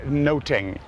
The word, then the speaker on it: nothing: but on another level Elizabethans would have pronounced the word noting and so it becomes a pun on music because notes and they